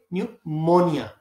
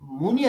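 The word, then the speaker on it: pneumonia: न्यूमोनिया इसको आप पढ़ेंगे न्यूमोनिया इसको मनिया नहीं पढ़ेंगे जब मोनिया पढ़ेंगे तो फिर ये मिस्टेक होगी कि भ यू है तो यहां यू लगा दो तो न्यूमोनिया तो पी एन ई यू P silent है ये न में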